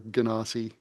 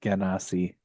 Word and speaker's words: genasi: Never been sure how to pronounce that. I always said Genasi. I like Ganassi, although I might be saying that just to be oppositional. It's the GIF GIF debate D&D variety. And it could be like, Genesee or Genesee.